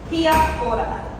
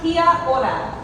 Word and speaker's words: kia ora: So the first thing you should all know is kia ora. That is how you say hello. So can I hear that from everyone? Kia ora.